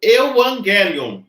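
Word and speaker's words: εὐαγγέλιον: Agora vamos falar Evangelion.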